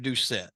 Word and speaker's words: Doucet: kind of get into here is uh Jeff Doucet that's that's his name correct that's how he pronounced it yes okay so he was actually